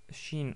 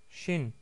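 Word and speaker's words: شين: Shin en arabe, c'est l'équivalent de che avec un CH en français.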